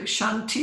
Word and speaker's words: Shanti: know that pronunciation and making it clear that no this is how it should be said this is how it should be said so what did he do Shanti Shanti Shanti yeah abbreviated you know